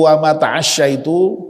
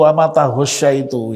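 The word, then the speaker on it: وما تعشيت: Jadi yang mestinya itu wa ma ta'asyaitu bil ain, saya itu kok ya membacanya kok bil ghain ya, jadi dengan ghain ya. Saya ternyata membaca itu wa ma taghsyaitu ya.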